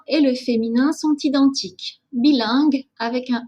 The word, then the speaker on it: bilingue: Attention, ce n'est pas la même prononciation que langue. Je parle une langue, c'est le son en. Ici, c'est le son un.